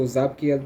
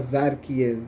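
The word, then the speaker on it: Tzaphkiel: Okay, so Zapkiel with the P, not Zarkiel, Zapkiel.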